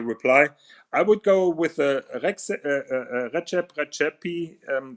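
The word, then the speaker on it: Rexhep Rexhepi: I would go with Recep Recepi. That is the correct pronunciation, as he told me that. Recep Recepi Chronomètre Contemporain number 2, which is slightly above 100,000.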